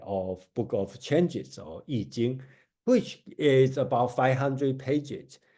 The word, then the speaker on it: Yijing: And with some people pronounce as I-Ching, right? It should pronounce as Yi, right? So the modern way to do it is this way, Yijing.